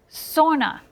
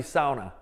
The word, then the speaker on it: sauna: became sauna City or Sona City that's the way they pronounce it sauna Sona okay if you want to say it correctly it's definitely sauna that's how they say it in Finland which is where sauna